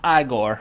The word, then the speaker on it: Igor: bless you ah gore Igor it's pronounced I Corps or lovely - Marty